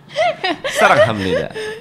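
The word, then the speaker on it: 사랑합니다: Sarang Hamnida. Dibacanya Hamnida. Ham.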